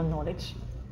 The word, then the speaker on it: knowledge: Буква K не читается перед буквой N. И дело не в том, в начале ли они слова, а в том, в одном ли они слоге, если они в одном слоге.